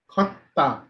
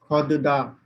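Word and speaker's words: 걷다: You can see Pachim is da, and at the Pachim position it will be pronounced as ta only. So pronunciation will be khotta, khotta, khotta. Please repeat after me. You don't have to pronounce it as khodda, khodda.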